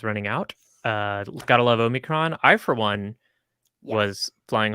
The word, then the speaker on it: omicron: think that's good omikrom i've been calling it omnichrome and i know that's wrong i'm sorry what do you pronounce it omnichrome oh that's certainly not right okay i mean the greek letter is omicron and that's what it's